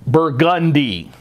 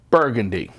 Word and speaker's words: Burgundy: We pronounce the street Burgundy instead of, like the wine, Burgundy.